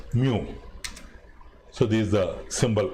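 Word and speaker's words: μ: it's a greek symbol it is termed as it is pronounced as mu so this is the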